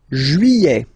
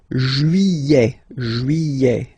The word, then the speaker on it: juillet: Juillet. Okay, you get this double L here. Juillet. Don't pronounce this final T, E-T here at the end. E.